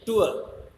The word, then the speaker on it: tour: Generally हम इसको टूर बोल देते हैं, पर ये टूर नहीं है, टूर, because are इज not pronounced as इट इज not followed by a vowel sound.